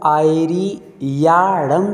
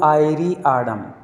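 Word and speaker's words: आयरियाणं: कल भी मैंने आपको बताया था कि हमें नमो आयरी याड़म शब्द बोलना है, आड़म नहीं। आप लोग उच्चारण कर रहे हैं तो आड़म शब्द बोलते हैं, नमो आयरी आड़म।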